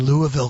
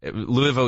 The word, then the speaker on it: Louisville: We were in Indianapolis last weekend and Louisville, Kentucky. No, you don't say it like that. Louisville, you pronounce it like this.